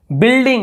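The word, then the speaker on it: building: बिल्डिंग, यहाँ पर बिल्डिंग नहीं पढ़ रहे हैं, यू तो पढ़ ही नहीं रहे, हम केवल बिल्डिंग ऐसे बोल रहे हैं। देखिए यू को हटा के हम क्या बोल रहे हैं, ऐसे बिल्डिंग, तो देखिए यू है ही नहीं, लेकिन लिखना है भाई हमको।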